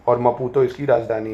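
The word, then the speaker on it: Maputo: और मपुतो इसकी राजधानी है।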